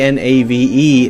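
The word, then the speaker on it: knave: the spelling hasn't really changed we say k n a v e Nave like Nave n-a-v-e but still spell it in the most ridiculous possible way I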